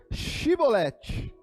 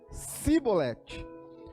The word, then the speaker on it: Shibolete: Então lhe diziam: Dizes, pois, Shibolete. Porém eles diziam Sibolete, porque o não podiam pronunciar assim bem.